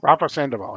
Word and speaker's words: Rafa Sandoval: we kick this issue off with first off it's Rafa, how you say it, Rafa Sandoval. Rafa Sandoval.